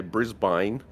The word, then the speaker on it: Brisbane: American thing and say Brisbane please tell me that does not actually happen brisban Americans a lot of a lot of Americans say Brisbane it's Brisbane yeah uh he told